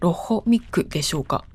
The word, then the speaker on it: Loch Muick: The pronunciation is roughly /lɔx mɪk/. If I were to force it into katakana, it would be something like Loch Mick?